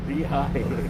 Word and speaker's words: Lehigh: Lehigh.